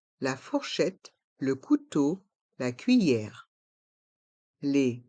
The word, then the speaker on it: fourchette: les couverts la fourchette on entend bien le T quand on prononce le mot fourchette la fourchette le couteau